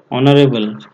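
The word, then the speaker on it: honourable: তারপর হচ্ছে কি, এইচ ও এন ও ইউ আর এ বি এল ই, অনারেবল, এটার সামনেও কি হবে, এন হবে।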